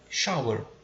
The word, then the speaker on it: shower: e vai chamar de shower. E a pronúncia, dica de pronúncia, né, esse SH ele tem som quase que de X, né? Shower, shower, né?